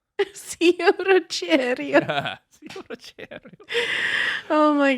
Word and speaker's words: Zio Ruggero: Say it properly. Zio Ruggero. Zio Ruggero.